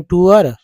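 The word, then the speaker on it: tour: Would you गो ऑन टूर, would you गो ऑन टूर। तो कुछ लोग जो टूर बोलते हैं, कुछ लोग टूअर बोलते हैं, लेकिन टूअर होता है एक्चुअल उच्चारण।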